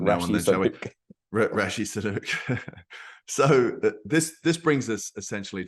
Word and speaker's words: Sunak: But just to clarify, Joel, I think you must have got his name wrong, because President Biden said that he's called Rishi Sunak, not Rishi Sunak.